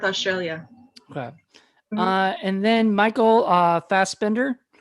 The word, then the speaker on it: Fassbender: And then Michael Fassbender. I want to say that's how you say his name. Yeah, it's got to be Fassbender.